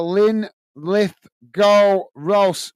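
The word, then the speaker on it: Linlithgow Rose: you're killing me uh it's pronounced uh Lynn lith go Rose well thank you mini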